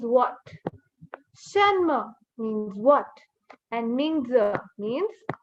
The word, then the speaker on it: 名字: The last I here is not pronounced. So there's no E sound or I sound. It's not Mingzi. Ming z. You leave z as it is. So we say Ming z.